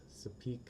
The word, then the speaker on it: Sopheak: ex, Sapi, SOPHY, and one of my besties, Sapik, SOPHEAK. My name is pronounced Sapunya Rafiki Ho's baby Simba above Pride